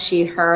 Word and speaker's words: Tylek: excited to be here my name is Tyler uh pronounced sheet her and I'm the founder and executive director of